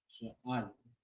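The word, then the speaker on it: שיער: Yeah, remember that the word is sha'ayir, right? So we got here. And over there, which will be sha'ayir. That is how you say here in the Hebrew.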